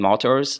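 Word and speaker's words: martyre: Comment dire martyr en français?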